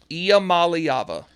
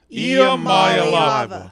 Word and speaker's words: Iamaleava: Iamaleava. Iamaleava.